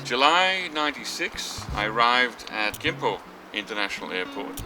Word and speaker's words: Gimpo: July 96, I arrived at Gimpo International Airport, spelled with a K, K-I-M-P-O, it's old romanization system.